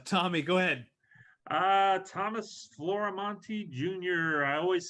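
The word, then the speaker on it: Florimonte: I've forgotten uh Tommy go ahead uh Thomas floramonte Jr I always spell it because even though it's on there but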